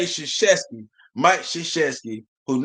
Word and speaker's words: Krzyzewski: But y'all can say Krzyzewski. Y'all can say Krzyzewski, Mike Krzyzewski, whose name start with a K.